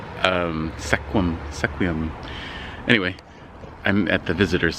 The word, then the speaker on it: Sequim: to seeing I'm in Sequim sequía there's a lot of towns in Washington that have names that are hard for outsiders to pronounce so I'm sorry Sequim sequía anyway I'm at the